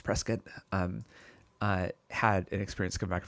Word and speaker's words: Prescott: It's Arizona, so it's not Prescott. It's Prescott.